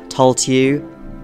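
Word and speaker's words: Tailtiu: From FE 4, we have Tulltew, don't at me, it's Irish pronunciation, in Generation 1, and Corpa, or his replacement Charlo in Gen 2.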